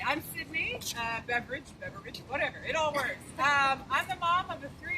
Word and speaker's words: Beveridge: Oh, Beveridge. Beveridge. Like drink. Like the drink.